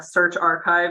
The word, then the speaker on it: SearchRxiv: you in this process search archive yes that is actually how you pronounce search rxiv I always forget that